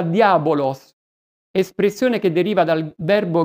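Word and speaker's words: διάβολος: nemico, persecutore, accusatore, calunniatore, e che in greco si pronuncia diabolos, espressione che deriva dal verbo greco diaballò, che significa separare, dividere.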